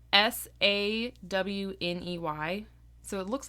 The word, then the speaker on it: Sawney: Well, Sawney.